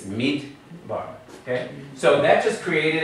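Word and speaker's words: מדבר: It's not sounded as midday. Midday bar. It's midbar.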